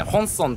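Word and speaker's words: 本村: あのこの辺りのエリアをですね、本村と言います。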